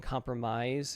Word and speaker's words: compromise: The last vowel sound in compromise is the AI, which would rhyme with find.